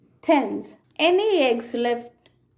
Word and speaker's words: Thames: The letter A is pronounced as A. A as in any, many, said, says, and the river Thames. Any, many, said, says, Thames.